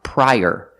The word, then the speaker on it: prior: Also this word is pronounced prior, using the long I, pry, and like burger. Link the sounds together, prior. Use the y sound like in yellow to link the two vowels.